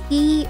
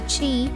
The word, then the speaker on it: Qi: it's not pronounced as key or gree like cheese without the s sound it's said to come from the chinese word qi which means vital or